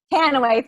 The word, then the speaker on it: Tanouye: Tanouye, thank you.